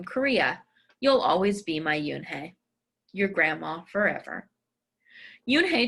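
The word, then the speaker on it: Unhei: Yes, it's pronounced Yoon Hey. And it means grace, Mr. Kim added. Yoon Hey, Joey said slowly, and this time perfectly.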